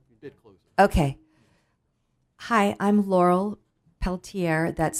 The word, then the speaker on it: Peltier: think okay just close okay hi I'm Laurel Peltier that's spelled l a r l and my last